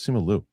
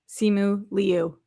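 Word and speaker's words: Simu Liu: I thought it was simolu. Simu Leu.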